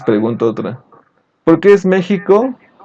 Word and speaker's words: México: Porque así lo escriben ellos y lo pronunciamos como si fuera como J.